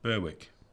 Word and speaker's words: Berwick: um what's his name berwick i keep want to say beric because that'd be the correct way to pronounce it but it's berwick yeah the great the